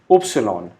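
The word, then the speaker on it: Ypsilon: Y alphabet is pronounced as Upsilon, the most complicated pronunciation of German alphabet.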